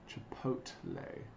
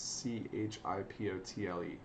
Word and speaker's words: Chipotle: spelled Chipotle wrong I've only just realized that chipotle I think it's c h i p o t l e CH I used to pronounce it Chipotle but